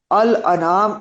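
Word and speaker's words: الأنعام: तो कभी भी आपको गलत प्रोनाउंस नहीं करना चाहिए क्योंकि अल अनाम नाम की जमा है नाम कहते हैं ऊंट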